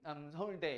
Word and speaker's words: 남서울대: 발음할 때 남자를 찾게 얘기하면 남서울대 이렇게 하면 돼요. 남자 잘 안 들리게.